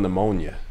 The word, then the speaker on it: pneumonia: It's like spelling pneumonia. Silent P in pneumonia.